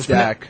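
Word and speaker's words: Dack: The the the way it's spelled is D A C K. I don't know how it's pronounced. Is it Dax or Dax? No, Dak. It was pronounced Dak.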